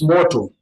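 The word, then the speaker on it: moto: And fire is mortal. Mortal. Mortal. Mortal like the English motto. That's motto.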